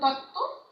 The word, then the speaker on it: তত্ত্ব: এরকম আরো আছে, দেখো তত্ত্ব, এই বটা কিন্তু উচ্চারণ হচ্ছে না।